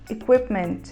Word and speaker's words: equipment: palavra significa suficiente e a gente fala com aquele som mais próximo do e fechado uso da palavra misso